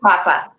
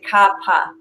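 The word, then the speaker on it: Kapha: yeah and Kappa is that the second one Kappa you'll pronounced as Kappa but I want I want let everyone know it's actually kaapa kaapa oh I did not know that pronounce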